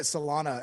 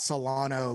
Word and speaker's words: Solana: it thank you for calling it solana and not solano like so many mispronounces i do not like